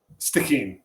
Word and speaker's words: Stikine: And when we spoke, you were getting ready to go to the Stikine. Did I pronounce that right? Stikine.